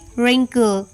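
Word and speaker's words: wrinkle: रक डब्लू आर आई एन के एल ई रिंकल डब्लू आर I double G एल E Regal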